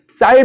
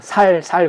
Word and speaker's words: 쌀: 오늘날로 말하면 이 경상도 사람들이 쌀 발음을 잘 못하잖아요. 그래서 너 쌀을 한번 해봐. 그래서 만약에 쌀이라고 말 잘하면은 살려주고 만약에 쌀 발음 못해서 살 그러면 다 죽여버렸다는 거예요.